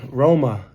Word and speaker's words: Roma: So, I'm coming to you from Rome, Italy, Roma, as the locals say, and I'm just trying